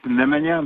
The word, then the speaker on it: Nemanja: It's Nemanja, but I know it's very difficult to pronounce.